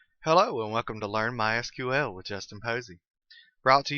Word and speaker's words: MySQL: As you can tell, I've been calling it MySQL. That is the correct pronunciation. However, it is also commonly called MySQL. If you hear it called that, don't be confused. It's the same thing.